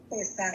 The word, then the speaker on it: Pesaj: Pesaj. ¿En judío? P-E-S-A-J, Pesaj. La J se pronuncia como arrastrada.